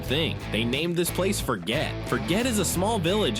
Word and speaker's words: Forget: The name is pronounced Forget. It is a French name.